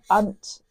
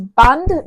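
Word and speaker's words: Bundt: is actually called a bunt pan. I think I've pronounced that right. It's bund b u n d with a t on the end. So, bunt bund or bunt pan.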